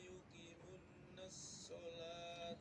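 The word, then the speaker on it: يقيمون الصلاة: Wa yuqimunas shalah. Yuqimunas shalah. Ya, bukan yuqimunas shalah ya. Sekali lagi. Alladzina yu'minuna bil ghaibi wa yuqimunas shalah. Ya. Alladzina yu'minuna bil ghaibi wa yuqimuna sholata.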